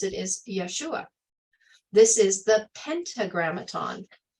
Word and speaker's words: Yeshua: that sounds like Yeshua Yeshua yodehave when you pronounce it is Yeshua this is the pentagram Aton I've shared this